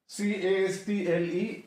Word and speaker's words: castle: So next is CASTLE. तो इसमें T silent है, it is pronounced castle.